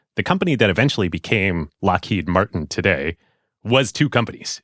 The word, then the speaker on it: Loughead: Yes, but it was pronounced Lockheed because it is Scottish, like Loch Ness, Lockheed, not Loghead.